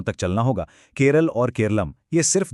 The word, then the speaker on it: केरलम: असल में मलयालम भाषा में लोग पारंपरिक रूप से अपने राज्य को केरलम ही कहते आए हैं। लेकिन जब ब्रिटिश राज आया तो अंग्रेजी उच्चारण के हिसाब से केरलम को केरल लिखना और बोलना शुरू कर दिया गया।